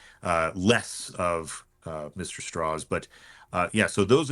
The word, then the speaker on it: Strauss: and that's what Lewis straws tried to do as well that's why he would pronounce it straws instead of Strauss as well and it's